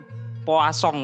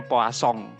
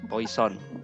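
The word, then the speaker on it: Poisson: jadi untuk tabel-tabel itu bacanya poa song hujan itu bahasa Perancis artinya ikan jadi bacanya polsong bukan Poison ya ya itulah sapa the Poison gitu Itu nama orang perancis kalau bahasa Perancis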